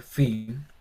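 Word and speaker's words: φῖ: una línea entre medio, Fi, y se pronuncia exactamente igual como nuestra F, como en faro.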